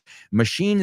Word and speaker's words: machine: Y acordaos, machine, la CH, no se pronuncia como CH, like Chicago, Lake Michigan, Chicago, machine gun, son Oh, open water's great one.